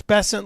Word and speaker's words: Bessent: Because it's Bessent like Pleasant.